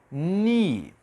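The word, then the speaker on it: knee: KN e neste caso o k ele é mudo então eu não vou pronunciar o k nessa palavra pronuncia apenas no eu não vou pron o k aqui a pronúncia vai ser ni e nessa palavra eu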